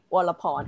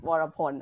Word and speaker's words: Vorapon: your name at first it's not a pawn it's water porn all right sorry for